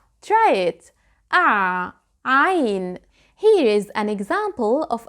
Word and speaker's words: عين: through your mouth, but when you say there is no air. I can't feel the air. And that's because I blocked the air by tightening my throat. I can feel the vibration of vocal cords here.